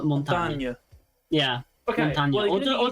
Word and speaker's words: Montagne: I think because it's French. It's like the E is more like it's more like montagne. It's like more montagne.